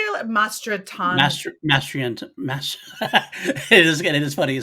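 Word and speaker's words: Mastrantonio: Mastratan Master. It is funny you say that. It is Mary hard. Elizabeth. Master Antonio.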